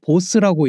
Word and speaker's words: BOS: BOS는 브레이크오브 스트럭처의 줄인말로 보통 보스라고 읽습니다.